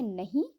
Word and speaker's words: know: तो इसमें नो इसको इसलिए बोलते हैं बिकॉज के जो है वो साइलेंट रहेगा इसमें.